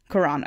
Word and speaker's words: Quran: pubic hair, because apparently that's instructed in the Quran. How do you pronounce it in English? Quran, okay.